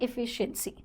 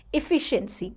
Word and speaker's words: efficiency: the pronunciation here carefully it has I sound in the start efficiency efficiency that's the correct pronunciation